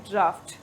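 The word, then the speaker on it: draught: जी एच टी होगा तो हम इसको प्रोनाउंस करते हैं ड्राफ्ट ठीक है ड्राफ्ट एंड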